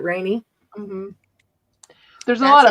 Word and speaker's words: Renee: It's spelled Renee, like French. Oh, right. Oh. But he pronounces it Rainy.